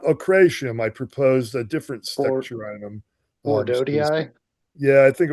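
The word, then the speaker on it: Steccherinum: Oh, Steccarinum. Steccarinum.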